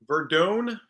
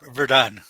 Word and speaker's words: Verdun: My guest, Verdone. How do you pronounce that? Verdun.